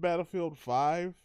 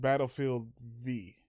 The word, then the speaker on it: Battlefield V: battlefield 5 I think it's called battlefield V yeah everybody's pronouncing is 5 or the bigger might be v mainline battlefield game but I think they want you to pronounce it's V like for victory yeah and but the